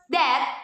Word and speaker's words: debt: that some is doubt most people also mispronounce this word which should be pronounced dead instead of them number three determine the